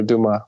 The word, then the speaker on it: Dumas: Alexander Dumas.